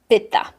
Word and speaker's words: pitta: Then you have the second one, pitha. Pitta is fire. And pitha is fire with water. And in the west, we pronounce it pitta.